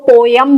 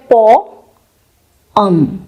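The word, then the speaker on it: poem: तो बचपन से इसको पोयम बोलते आए हैं। पर क्या इसका करेक्ट प्रोनाउंसिएशन भी पोयम होता है? इसका करेक्ट प्रोनाउंसिएशन है पोम, पोम, पोम, पोम।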